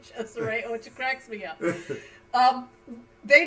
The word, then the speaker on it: Cesare: It's just how much image sells for musical artists, because when he gets his second artist, Cesare, which is spelled like Caesar, basically, but they pronounce it Cesare, which cracks me up.